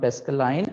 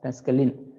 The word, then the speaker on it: Pascaline: write somewhere it is called pascaline okay not pascaline we pronounce it as pascaline so this machine or this device was invented